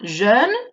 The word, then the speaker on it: jeune: Por lo tanto, joven sería jeune, E francesa, boca de O, pronunciando una E, y amarillo sería jaune, con una O.